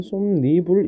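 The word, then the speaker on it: 솜이불: 자, 니은의 첨가 뭐야라고 하면 우리 아까 봤던 맨잎 같은 경우 발음하면 맨립이 되고 솜을 발음하면 예, 솜니불 이렇게 되죠.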